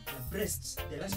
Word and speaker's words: Brest: Na hii Brest hii pronounce vile nimesema ni Brest.